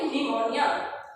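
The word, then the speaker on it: pneumonia: इसमें हमारा P silent रहता है, पी साइलेंट रहेगा तो हम इसको पढ़ेंगे निमोनिया।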